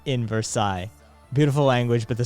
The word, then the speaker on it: Versailles: No, there's only one, and it's the S. The ILL sound it's a yeah song sound. It's not silent. It's wholly pronounced.